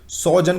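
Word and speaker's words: sojourn: सोजन कहते हैं आर जो इसमें साइलेंट होता है।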